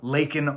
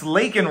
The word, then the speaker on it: Laken: on to then say but he mispronounced her first name so it sounded more like quote Lincoln to some Lincoln Riley and the GOP critics instantly pounced it's lakan Riley Mr President said the